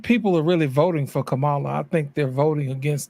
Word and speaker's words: Kamala: Okay, that word is pronounced Kamala.